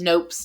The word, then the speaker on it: Knope: mean i think leslie knope is like the perfect name for a character with such a can-do attitude and i love that it has a like the silent k all of them we